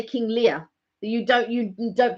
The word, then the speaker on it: Lear: with amelia because of the way of the pronunciation because it's uh leah so if you say leah you know you don't say uh even when you say king lear that you don't you don't pronounce the art